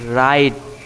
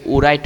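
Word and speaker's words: write: Read কি read read মানে হচ্ছে পড়া তারপর রাইট রাইট মানে হচ্ছে লেখা দেখো এখানে ডবলিউ আর আইটি তুমি যদি পড়তে চাও তাহলে কি উরাইট হয়ে যায় তাই না এখানে এখানে কিন্তু ডবলিউট উচ্চারণ হবে না।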